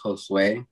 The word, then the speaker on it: Jhosue: the way okay so my name is josue it's how it's pronounced but um my nickname